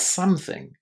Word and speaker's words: something: So something, somewhat, somehow, whatever it is, it's going to be some with a short a something.